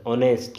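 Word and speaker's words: honest: ऑनेस्ट, तो यहाँ आप देख सकते हैं एच कॉन्सोनेंट है, लेकिन साउंड कैसी दे रहा है? ओ। एच यहाँ साइलेंट हो जाता है, ऑनेस्ट बन जाता है वावेल, इससे पहले आ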